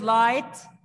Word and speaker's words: light: As we started in phonics, that GH is not to pronounce it, not to be said. Can you spell the word light?